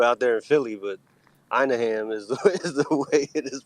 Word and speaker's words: Anaheim: know to do out there in Philly but Anaheim is the way it is pronounced I don't know if you know but